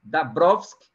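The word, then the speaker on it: Dąbrowski: Os americanos pronunciam Dabrowski e os poloneses, né, a nação qual o Kazimierz Dabrowski nasceu, eles pronunciam Dabrowski, né?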